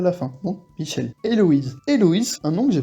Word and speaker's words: Héloïse: En français, Héloïse, le H on le prononce pas, donc pas besoin d'en mettre en coréen, sinon on le prononcerait.